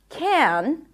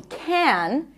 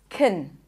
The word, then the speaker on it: can: this word is often reduced when it's unstressed in a sentence it's not pronounced can as in yes we can in this case it's stressed usually it's pronounced as kin I can do it